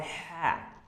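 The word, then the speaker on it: ح: without dot it's called ha ha ha ha you will have to pronunciate it from your throat okay so it will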